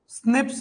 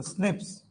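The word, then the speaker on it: SNPs: पॉलीमोर्फस single nucleotide पॉलीमोर्फस इसको कभी कभी प्रोनाउंस कर लिया जाता है स्निप्स के प्रोनाउंस भी कर देते स्निप्स स्कार जो आपने मार्कर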